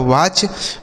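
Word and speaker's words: watch: अगला शब्द है दोस्तों डब्ल्यू ए टी सी एच। इसे क्या पढ़ते हैं? डब्ल्यू से हो जाता है व। ई सी आ की मात्रा और टी सी एस से च पढ़ते हैं। इसे पढ़ा जाता है वाच मतलब होता है देखना।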